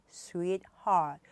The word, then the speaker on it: sweetheart: 스윗 heart 해서 T 발음은 받침으로 되기 때문에 발음을 안 하시고요. sweet heart 2개로 하시면 되고요.